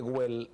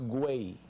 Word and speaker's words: Güell: Voy al parque, estuve en el Parque Güell, no es Güell. El catalán, la doble L, allá la pronuncia como si fuera una Y.